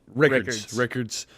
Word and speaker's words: Rickards: Rickards. Like records, but with an I.